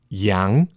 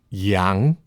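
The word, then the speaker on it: 羊: Yang, which means sheep or goat. Yang, sheep or goat.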